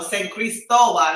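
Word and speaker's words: San Cristóbal: I have a home in San Cristobal. No, San Cristobal, Okay.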